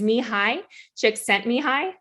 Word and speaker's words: Csikszentmihalyi: the father of flow so his name is me hi chick sent me high i know it's a mouthful i had to